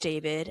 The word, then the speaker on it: D4VD: At the time, I had never really heard of this upand cominging musician, D4 VD, pronounced David, and terrible for my dyslexia.